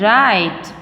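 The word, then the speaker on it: write: is silent here and right we say right not right right is wrong we will say the right because w is silent here and knock we don't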